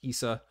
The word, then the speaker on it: ESA: which is esa but it's pronounced issa kind of like nasa you don't say nasa